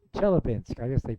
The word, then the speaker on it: Chelyabinsk: Chelyabinsk. It's Chelyabinsk. I guess they pronounce it that way.